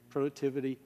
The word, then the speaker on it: productivity: will not change productivity productivity rhymes with activity not with information thank you miss bhuto